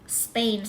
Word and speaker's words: Spain: Spain Spain นะ คะ Spain สังเกต ม ว่า เวลา มี S นำ หน้า ตัว P มัน ไม่ ออก ว่า Spain มัน จะ ออก เป็น เสียง เปอะ ป ปา นะ คะ Spain Spain เวลา ทำ เป็น สัญชาติ ก็